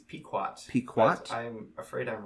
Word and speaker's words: Pequot: Actually, we can get a pronunciation here. Yeah, we might as well find out. Pequot.